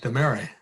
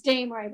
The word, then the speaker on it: Damery: DeMary. You can correct my pronunciation. That's okay, Governor. It's Damery, but that's not a problem. I'm used to it being mispronounced.